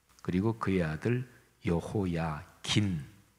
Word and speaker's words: 여호야긴: 근데 여고냐는 여호야긴, 이렇게도 이제 성경에 기록이 되어 있어요. 같은 인물입니다. 그러니까 유다의 왕 여호야김, 그리고 그의 아들 여호야긴, 아버지는 김, 미음 받침이고 아들은 긴, 니은 받침이 들어가요.